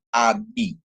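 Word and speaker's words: אָבִי: Terus kemudian ada alef dikasih kamats dia a, sedangkan bet dikasih hirik yod atau hirik male dia jadi bi ya. Jadi dia bacanya abi ya, api ya, atau abi atau api yang artinya adalah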